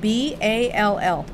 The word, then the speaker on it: ball: Okay, so I want you to pronounce the word B-A-L-L. Ball. Okay. What's the A say? Aw. Aw. When an A comes before an L or a double L, it usually says aw.